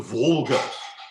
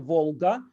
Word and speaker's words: Volga: something like actually so yeah as opposed to volga and you know you might just want to